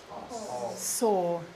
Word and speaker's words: sore: pronunciation Oh sore sore it's this sound or like horse sore okay good now I'd